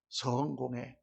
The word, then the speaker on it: 성공회: 성공회는 성공회라고 이렇게 길게 발음해야 맞습니다. 우리는 다 성공회. 그래서 마치 거기는 성공한 회인 것처럼 이렇게 우리가 잘못하는데 그거는 성스러운 공회다. 그래서 성공회 이렇게 말하는 게 맞고, 예수님은 성육신, 육신이 되셨다, 육신을 이루셨다.